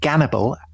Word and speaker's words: Gannibal: have someone with the name cannibal which is I gather the Russian the way the Russians pronounce Hannibal the great military hero